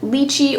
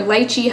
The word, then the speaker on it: lychee: lot recently and then lychee or lychee however you pronounce it i think both are correct i did look it